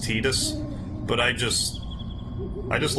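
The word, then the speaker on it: Tidus: like I know it is supposed to be pronounced tedious but I just I just like how Titus sounds better more than anything even if it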